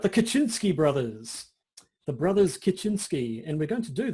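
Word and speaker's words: Kaczyński: now all right Josh hit me with some polish pronunciation of people's names right so today we are going to be talking about the brothers lick and your suave Kachinsky these two polish men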